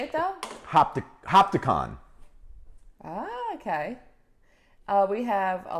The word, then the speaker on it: Hopatcong: Hopticon.